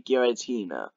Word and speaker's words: Giratina: word this right here is how you say Giratina well minus the comma NES which I've Been